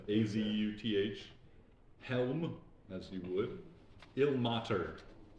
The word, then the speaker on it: Azuth: Azeth, Azuth, Helm, as you would.